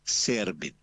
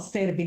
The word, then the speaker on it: Serbin: Es Servín. Te lo pronuncio Excelente. como Te lo, originariamente, te pero lo, te puedes lo decirme digo. Servín. No, Servín, de todas maneras.